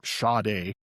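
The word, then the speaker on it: Sade: And you spell it S A D E and you pronounce it Shade.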